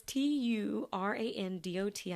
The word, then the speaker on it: Turandot: I don't know how to pronounce the name of the opera. Turandot. Look, the accent's coming out. Turandot. It's Turandot, I believe.